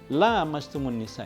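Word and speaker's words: لامستم النساء: karena bacanya Aula mastumunisa ini ada bedanya yang satu pendek yang satu panjang la mastumun Nisa ini artinya adalah sentuh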